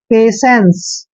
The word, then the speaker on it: patience: की मात्रा लिखते हैं, और जहां पे TIE तीनों इकट्ठे आते हैं इसको हम से का उच्चारण करते हैं, ऐसे से, ठीक है, पैसे। और एन को हमने आधा न लिखना है और CE को से पढ़ना है, पेशेंस।